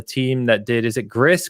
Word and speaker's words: Gris: that did is it Gris Greece I never know Dan reviewed it years ago but I believe it's Greece Greece yeah I think it's pronounced GRE right but it looks like G right yes I believe